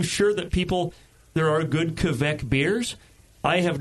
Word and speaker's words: Kveik: Kveik.